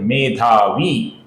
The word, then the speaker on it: मेधावी: ईश्वरो विक्रमी आगे का नाम है दोस्तों धनवी ये भी दीर्घ है। उसके आगे का नाम भी दीर्घ है। मेधावी तो यहां पर ये तीनों नाम दीर्घ है। उनको हमें दीर्घ ही उच्चारण करना है।